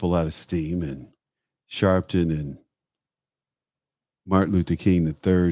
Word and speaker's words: Sharpton: Sharpton. That's how you pronounce it.